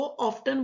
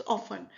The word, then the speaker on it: often: आपने याद रखना, ऑफन इतनी बार हम बोल चुके हैं, टी इसमें साइलेंट है, कोई भी इसको ऑफ्टन बोलने की ब्लंडर नहीं करेगा. इट्स ऑफन.